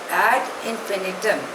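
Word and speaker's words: ad infinitum: 1947 एडी the next word is eight इंफिनिटम spelling is ए डी आई एन एफ आई एन आई टी यू N pronunciation is एड इंफिनिटम इट इज अ Latin word it means endlessly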